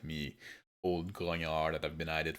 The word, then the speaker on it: grognard: It's grognard. It's not grognard. It's a French word, and if you pronounce French as it's written, well, you're doing it wrong.